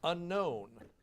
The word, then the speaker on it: unknown: Unknown. Pace Ernesto. K.